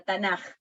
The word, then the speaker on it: Tanaj: Como la K se pronuncia J, ahí la tenemos con J, Tanaj.